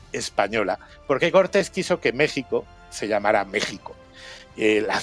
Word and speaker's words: México: se escribe con x Por qué se escribe con x porque en esa época en el siglo X La J que tampoco tenía ese sonido exactamente en español se escribía con x como en Texas Oaxaca o Quijote aquí tenemos